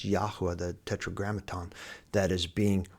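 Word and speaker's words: Yahweh: name is not Lord his name is Yahwa that tetrogrammaton and the cor correct pronunciation of it.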